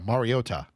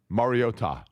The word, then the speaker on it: Mariota: Yeah, like you're saying Mario. Yeah, Mariota. Mariota, right?